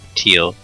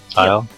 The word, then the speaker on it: Teal: Wick or Teal? Tile? Teal. Teal. Yes, I know it's spelled like tile.